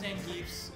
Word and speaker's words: Zangief: How do you actually pronounce that guy's name? Zangief. Zangief.